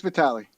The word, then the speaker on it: Vali: do how do you how do you say your last name I just want to make sure I'm saying it right because I probably butchered it no it's Vali ah okay there you